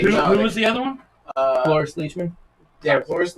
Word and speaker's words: Cloris: Cloris Leachman. Yeah, Cloris How Leachman do you spell and that? Michelle Cloris, Clorisle. C-L- That one is spelled just like it sounds.